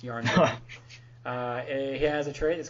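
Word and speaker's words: Jarnbjorn: that says Unworthy Thor starts the game with Yarnbjorn equipped. By the way, that's how you pronounce that if you couldn't figure it out. It's not Jarn Bjorn. It's Yarnbjorn.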